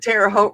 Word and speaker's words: Terre Haute: And Terre Haute rhymes with boat.